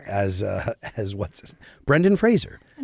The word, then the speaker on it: Fraser: No, it's not Frraasier. It's Brendan Frasier. Nope. It's not spelled like Frasier.